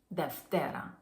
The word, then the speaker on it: Δευτέρα: Thus the name detera deer means second literally second day of the week.